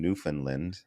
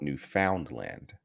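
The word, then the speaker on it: Newfoundland: sounds like he's from New Finland New Finland okay now the way that's spelled if I want to be a disrespectful I would call it New Foundland but because I respect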